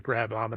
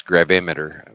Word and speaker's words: gravimeter: eye you know I I always say it wrong it's gravimeter with a gr g-r-a-v-i-m-e-t-e-r gravimeter I think it's the